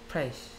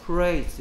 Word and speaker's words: place: Praise 이런다니까? Praise. Praise가 아니고 Place. L은 혀가 밖으로 튀어나오면서 윗니 밑에 으 메롱하듯이 붙습니다.